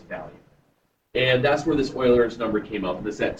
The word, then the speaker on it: Euler: It's Euler. It's pronounced Euler.